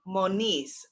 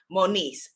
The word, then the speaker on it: Moniz: is goddess okay let me say your name correctly moniz that's a beautiful name moniz and i'm going to spell that for hay house so and then oh monis m-o-n-i-z congratulations you are the winner and